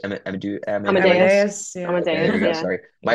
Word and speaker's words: Amadeus: Um, Look, I think we can conquer the hospitality space and be as big as, how do you pronounce Amadeus? Amadeus?